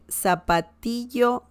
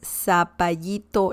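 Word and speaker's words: zapallito: far as i know el zapatillo sorry that's a different pronunciation my mistake i'm sorry el sapayito largo sa i don't know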